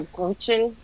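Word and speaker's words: Brötchen: It's a Is it like a broochen? It's like that. It's not like R. broochen. It's har.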